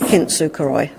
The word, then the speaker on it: kintsukuroi: art of, and I'm going to let you pronounce this. Kintsukuroi.